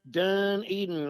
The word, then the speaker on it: Dunedin: spelled Dunedin it ain't it's pronounced done eating like I'm done eating this dinner or I'm done eating